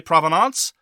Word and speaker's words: provenance: which I'm familiar where Americans pronounce it in the French way, and I pronounce it in the English way. So if you want to say provenance, that's fine.